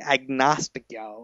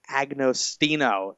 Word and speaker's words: Agostino: he's on Facebook at the agnostico or not a that's not even no that's horrible the Agostino there we go Agnes Ino um